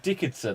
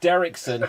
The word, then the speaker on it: Derrickson: i wish scott dicket dick derrickson i keep saying dickinson i was like that's not right right son right scott derrickson had made strange two